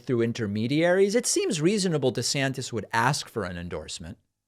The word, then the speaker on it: DeSantis: interesting I'm gonna also a few years ago Ron DeSantis pronounced his name Ron DeSantis which I find strange to change how you say your name at age 40.